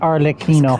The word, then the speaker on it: Arlecchino: pronunciation is It was a Arlecchino.